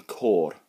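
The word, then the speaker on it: côr: Now, if you see it written down, it's C-O-R, so it looks like you're saying, "Cor blimey, governor," right? But if you look at the O, I don't know if I can put captions on this thing, but if I can, I'll show you. There'll be one on the screen. There's a little, what we call a torbach, little roof on the O.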